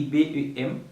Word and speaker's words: bem: Il écrit B-E-M, mais on prononce comme bem.